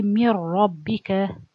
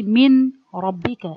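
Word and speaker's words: مِن رَّبِّكَ: When I read this word, I say mir rabbika, mir rabbika. So I don't say min rabbika. If I say min, that means I pronounce the noon from its articulation point. And if I say min, I can't do this ghunna. You can. So you merge it, so no noon anymore. And no ghunna of the noon, nothing remain.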